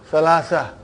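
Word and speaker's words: ثلاثة: And then Salasatun. But you will always hear the word Salasa.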